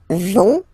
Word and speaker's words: vont: you don't pronounce it, so ils vont, final T not pronounced, ils vont, and then feminine form, elles vont.